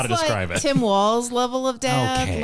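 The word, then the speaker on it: Walz: everyone still loves Tim Walls and it's pronounced walls like multiple walls not like Walts the dance sure hot tip hot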